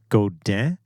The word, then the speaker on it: Godin: I actually kind of looked that up because my last video, I was like, how is that even pronounced? And what I found is Godin.